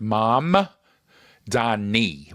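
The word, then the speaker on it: Mamdani: So the M is first. Mam Dani with an N.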